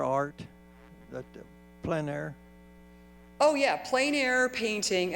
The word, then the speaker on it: plein air: Would you define the plein air art, plein air? Oh yeah, plein air painting, and it's spelled P-L-E-I-N.